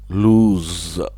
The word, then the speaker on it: lose: an extended o like lose with a z sound lose lose means to misplace